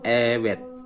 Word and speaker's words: evet: Jawabannya untuk jawaban positif menggunakan evet. V ini tidak dibaca V tapi dibacanya W. Evet.